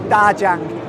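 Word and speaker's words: 大疆: It's pronounced in Chinese, Djang.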